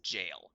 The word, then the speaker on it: gaol: And yes, GAOL is pronounced jail.